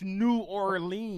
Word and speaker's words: New Orleans: Nolans? They used to Right. be like, don't say it. It's New Orleans.